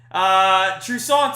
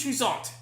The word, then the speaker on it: Toussaint: Toussaint is pitching. Touki Toussaint. You have to have a little French flavor in there, in my opinion, when you pronounce his name.